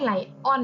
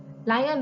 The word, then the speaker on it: lion: เอ่อ น ไล่ เงิน ไม่ ใช่ Lion อ่ะ ดิ อ่าน ว่า อ่อน ไม่ ได้ อ่าน ว่า ไล่ Ryan แปล ว่า สิงโต สิงโต